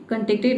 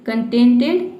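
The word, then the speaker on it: contented: इसका second form third form दोनों same होता है, कंटेक्टेड, कंटेंटेड, कंटेक्टेड नहीं, कंटेंटेड, कंटेंटेड। यानी कि इसमें आप केवल ईडी लगा देंगे तो इसका सेकेंड फॉर्म थर्ड फॉर्म बन जाएगा।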